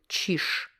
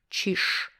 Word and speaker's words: чиж: So here, чиж ends with zh, but when we pronounce it, we use sh, чиж, чиж, чиж.